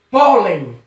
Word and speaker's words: pólen: só é outra palavrinha pólen pólen recebeu que o pó a sílaba por ela é mais forte então acertou se por